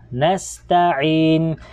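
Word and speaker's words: نستعين: Okay, ang sin, since na ang vowel niya dito ay silent letter, so ang maging tunog na lang niya ay s. Na kung kaya babasahin natin ng nasta'in.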